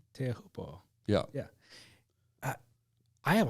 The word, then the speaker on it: Teahupo'o: Teahupo'o.